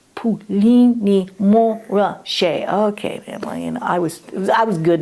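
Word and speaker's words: Puligny-Montrachet: would always, correct me, because I'd say like Puligny Montrachet, and he'd go, no, Ursula, it's Puligny Montrachet.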